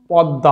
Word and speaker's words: পদ্মা: এবং পদ্মা, আমরা কিন্তু পদ্মা বলছি না, আমরা বলছি পদ্মা।